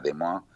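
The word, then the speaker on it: Des Moines: de una ciudad que se llama demo se escribe desmoines en que es la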